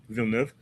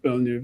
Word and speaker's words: Villeneuve: But I mean, I I do have faith in Danny Uh sorry, I was pronouncing it wrong. Danny W or whatever. Villeneuve. Yeah, Villeneuve, yeah.